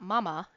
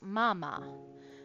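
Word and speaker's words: まあまあ: So what we have here is m a a m a. So it's not mama, it's mama.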